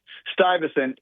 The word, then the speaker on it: Stuyvesant: Stuyvesant High Got School, which was named after Peter